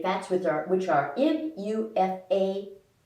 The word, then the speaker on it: MUFA: which are which are m-u-f-a which i say is a mufa there's polyunsaturated fats which